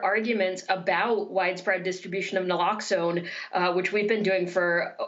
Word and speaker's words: naloxone: overdose prevention through the distribution of, I guess, naloxone, is that how it's pronounced? Naloxone.